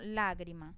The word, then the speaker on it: lágrima: Lo mismo lágrima. Lágrima tiene el acento en la antepenúltima sílaba y lleva tilde.